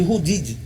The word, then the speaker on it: Rude ID: Só que a pronúncia Rude ID ficou batizada de Rudid, né?